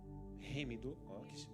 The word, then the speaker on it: Heemidu: E a Remidu, a pronúncia está correta? Remidu, sim ou não? Remidu, é isso aí, irmãos.